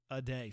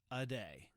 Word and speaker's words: Ade: german families was the aday family ade but the best pronounced pronunciation i got was uh a day um it could be aid but i think it's a day i'm gonna settle on that um i don't want